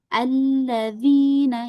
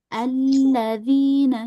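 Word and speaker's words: ٱلَّذِينَ: Yang betul adalah digabung, di baca terus alladzina ya langsung alla di huruf lamnya dialirin alla ya. Huruf lam ini juga sama dia sifatnya bainiah mengalir sedikit ya. Alla alla ya. Jadi, jadi dialirin alladzina ya biar enggak ada jeda kita alirin. Alladzina yang ini juga sama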